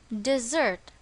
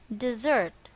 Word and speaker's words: dessert: and its pronunciation is dessert notice that the stress is on the second syllable dessert the second one is